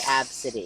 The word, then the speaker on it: Abcde: It's like ABCDE and it's pronounced Abity.